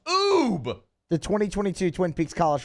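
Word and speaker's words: Oubre: have to know this ubery oh my god oh where are you people from Aubry it's Ube he said ubery it's oob o u b r e how do you not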